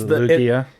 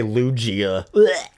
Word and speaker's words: Lugia: It's Lugia. it's the GIF and GIF argument all over again. Some people say Lugia.